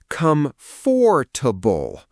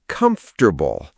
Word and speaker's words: comfortable: I found out later, it is comfortable, three syllables, one whole syllable just gone, vanished.